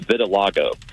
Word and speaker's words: vitiligo: And uh and then from like with the very first segment, it's pronounced vitiligo. Vitilago.